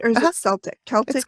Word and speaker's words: Celtic: Celtic with a hard C.